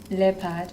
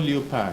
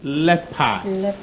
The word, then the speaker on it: leopard: justina okay so the quran sorry the cursed pronunciation of the word is leopard leopard and not leopard no yeah you've been rightly informed out there please the word is leopard do not be deceived by the evil there